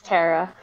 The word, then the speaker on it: Tara: to butcher the name either tara or tara pronouns or she her hi it's it's tara hello tara hi um